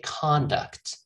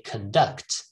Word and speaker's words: conduct: in two different ways if it is a noun you would say conduct okay but if it is a verb you would say conduct okay like conduct an experiment all right